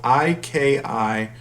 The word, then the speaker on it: ikigai: i'm not sure i'm pronouncing it right but it's spelled i-k-i-g-a-i ikigai and this concept is usually applied to